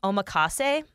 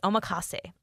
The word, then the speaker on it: omakase: Okay, I'm not sure how to pronounce this, but I think it's omakase.